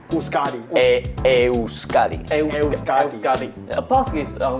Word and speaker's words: Euskadi: In English, it's Basque. In our language, it's Euskadi. Euskadi.